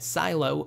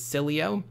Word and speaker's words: Sileo: again it's pronounced Sileo we've been calling it silo with a silent e simply because again we